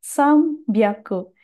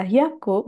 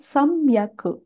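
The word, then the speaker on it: 三百: 300 sambiaku. Jadi untuk yang 300 ini cara bacanya spesial. Tidak dibaca hyaku, melainkan samyaku.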